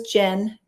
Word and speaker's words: Gen: Her name is Jen. It's spelled Gen, and she has a conversation like a real person.